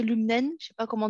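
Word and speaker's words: Lum'en: Lumnen, je ne sais pas comment tu le prononces, Laurent. L'humaine, oui. Lumen, voilà.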